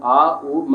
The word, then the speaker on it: ओम: हालांकि ओ आ, उ म होता है।